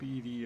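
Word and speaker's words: ED-E: want to get up edie or eddie i think there's you know they want you to pronounce it edie but i always pronounce it eddie or eddie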